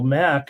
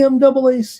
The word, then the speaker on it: MAAC: too many people were pronouncing the conference as you know MAC and then they always say the other MAC it's the MAAC you guys I mean